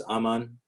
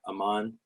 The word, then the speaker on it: Amin: myself to everyone as Amin not Aman which because my name is supposed to be pronounced Amin but people just had